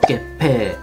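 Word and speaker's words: 月餅: 个汉字，月饼在日本是念作 Gepe，这应该是比较中式的读音啊，不过我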